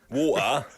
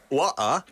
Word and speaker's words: water: Water. Water. Water. Water. Water. How do you pronounce it again? It depends. If you speak properly, it's water. If you're a bit 좀 slang으로 말하면 water. Water.